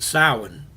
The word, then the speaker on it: Samhain: It's actually pronounced Samhain.